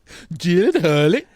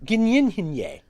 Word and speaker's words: Gyllenhaal: Gyllenhaal. He says, "It's Dutch." And so the correct pronunciation is Gynyenhinye.